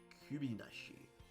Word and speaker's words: kubinashi: yagyo nikubi uh kubinashi kubinashi i pronounce it as ku like in a dutch ku but i need to pronounce it as a q like a qb so it's fox tail